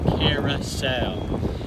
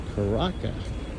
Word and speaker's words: Curaçao: in Aruba but anyhow here we are in Carousel and Carousel is spelled really funny for how it's pronounced it's c-u-r-a-c-a-o a lot of people used to say it's caraca or karako but it's called carousel thank you I'm not